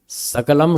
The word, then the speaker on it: सकल: लिए ऋषियों ने लिखा सकलम सकलम इति महाभूत शकल को शकल मत बोल देना सत्यानाश हो जाएगा बिगड़